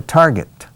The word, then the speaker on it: target: Y por favor, la G es dura. Target. No se dice target. Si dices target, ya estás pregonando los 4 vientos tu falta de inglés.